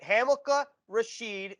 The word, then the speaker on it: Hamilcar Rashed: now joined by hamlika rasheed you know first of all get the name right hamilkar rasheed spelled not the way it's pronounced so glad we got that out of